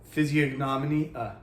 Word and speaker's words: physiognomy: Physiognomy. I don't think the G is pronounced. I think it's one of those silent Greek letters, like, pterodactyl.